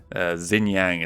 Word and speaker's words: Xinjiang: will go over to Xinjiang is how they're saying it. I thought X's were pronounced more like a sh sound, but whatever.